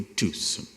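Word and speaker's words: Tucson: inglês do que eu, corrigiu a pronúncia do carro que eu tinha então e me disse que eu havia adquirido um Tucon, não uma Tucon, que este C não se pronunciava por algum motivo, que só os indígenas do Novo México dominavam.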